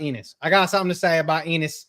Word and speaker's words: Enos: You want to get the pointing out of the way, because I got something to say about Enos. Okay. Who rhymes with another male genitalia.